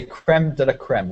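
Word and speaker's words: crème de la crème: we say creme deeme we say it like this but without the French accent we we say this you would say how is it can you say it jeline I can't pronounce it but in the UK we say creme deeme means best of the best but we say the French one we try to at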